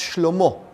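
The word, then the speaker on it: שלמה: His son, Solomon, which in Hebrew is pronounced Shlomo, which means peace.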